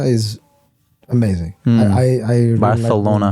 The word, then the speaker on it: Barcelona: I I I Barcelona. Bartholona. Um, it's it's amazing. Which was which was called that because or pronounced that way because the king had a lisp.